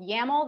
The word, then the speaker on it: YAML: So first we'll talk more about YAML. So this rhymes with camel.